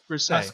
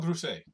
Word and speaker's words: Grousset: How would you pronounce that? Grousset. Pascal Grousset. Pascal Grousset. Thank you, Adam.